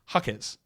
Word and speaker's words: Jaquez: hakz or is yeah hakz or hakz it's hakz hakz which is what I said in originally I don't know why I changed it hakz anyway H hakz that's a lot of hakers